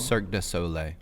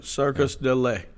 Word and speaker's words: Cirque du Soleil: Cirque du Soleil. Okay, Circus du Soleil.